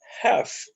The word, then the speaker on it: half: Não se pronuncia essa frase half. Não é half. Você vai pronunciar ela half. Half. Ok? A pronúncia dela é essa. Pode parecer estranho, mas a pronúncia correta é half. E não half, como tá aí, ó.